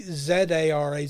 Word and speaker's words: Zara: The next one that came in, again, I've marked it as episode 1, was from Zara, spelt with a Z, Z-A-R-A, Zara, from Gillingham, England.